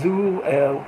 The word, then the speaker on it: Ru: like stream and uh on the Vietnamese language I think it's pronounced zo it kind of means